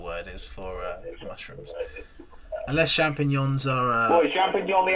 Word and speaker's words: champignon: But I've just realised, and this is the part Bruno are now going to save us, is that champignons are mushrooms.